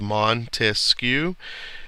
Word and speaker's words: Montesquieu: to pursuit of happiness Montesquieu we remember that it's got three syllables Montesquieu and those stand for